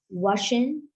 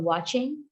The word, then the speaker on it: watching: All data which has ch in its word are pronounced sh, like washing for watching and touch for touch.